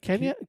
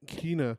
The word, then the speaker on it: Kena: Is it Kenya? Kena.